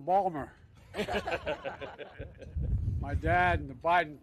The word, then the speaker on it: Baltimore: By the way, folks, I say to my dad, Dad, they're mispronouncing Balmer.